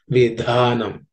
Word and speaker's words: विधानम: So it should be pronounced as samadhi, samadhi, vidhanam. Okay, so the dha and dhi are aspirated, so it requires a little more air when you pronounce them.